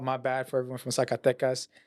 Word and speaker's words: Zacatecas: I remember this one was like it was my fault, my bad for everyone from Zacatecas. I pronounced it Zacatejas, and everyone came to but it was the video was great.